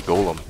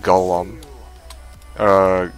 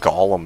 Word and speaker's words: golem: this Northstar say like go um go um well I think golem is the right way to say it at least that's the